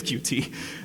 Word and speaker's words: Qt: I guess it was it's supposed to be pronounced cute I don't know a single person that calls cutie cute a because it's disgusting and B because everybody says cutie now QT is a